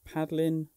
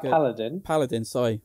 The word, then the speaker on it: Paladin: to be bid on, there was a female paddling warrior on it. And Mrs. looks Paladin.